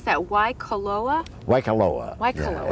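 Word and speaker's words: Waikoloa: we were talking about your how do you pronounce that why caloa waikaloa it's at the hyatt regency hotel in waikaloa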